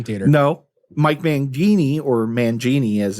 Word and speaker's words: Mangini: uh quick um news intermission it's uh Mike manini is back in uh Dream Theater no Mike Mangini or Mangini as it's pronounced is out of Dream Theater Mike pornoy